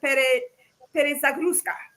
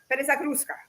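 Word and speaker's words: перезагрузка: It's called perezagruska. Perezagruska. That's the word, the Russian word for reset.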